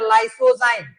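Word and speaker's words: lysozyme: saliva में present होता है उसको बोलते है लाइसो जाइम लाइसो जाइम एंजाइम क्लियर हो गया लाइसो जाइम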